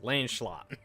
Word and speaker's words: Lancelot: It's 2 syllables. Lancelot.